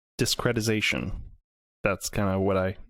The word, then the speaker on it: discretization: i'm pronouncing it right discretization discretization that's kind of what i the process of discrediting no because it's not it's not like from discredit it's d-i-s-c-r-e-t i-z-a-t-i-o-n like discrete but that might be